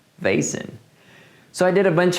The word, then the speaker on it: Vazen: that's because I recorded the whole video saying bazan and then after I sent an email to them asking how the name is actually pronounced and they replied saying it's vason so I did a bunch of dubbing and